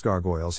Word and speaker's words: gargoyles: Phonetic Alphabet to pronounce gargoyles have in mind that the size of the syllable indicates where the accent of stress is in this case the accent is in the first syllable corresponding to Gar you know are other